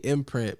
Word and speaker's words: M.Print: like wait a second i could just spin it to where i can still say imprint but it's spelt different yeah so i mean